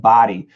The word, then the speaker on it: body: How to pronounce buddy and body. The vowels are different. The B-U-D-D-Y is a short U, and B-O-D-Y is a short O. So buddy, body.